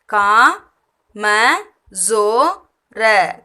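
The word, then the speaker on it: कमज़ोर: கீழே ஒரு புள்ளி வந்தாலே அது ஜோ இசட் சவுண்டில் ப்ரொனவுன்ஸ் பண்ணணும் ஏற்கனவே இது சொல்லியிருக்கோம் ஜோ கா ம ஜோ ர கம்ஜோர் வீக் பலவீனமான கம்ஜோர் வீக் பலவீனமான நைன்த்து சரோவர்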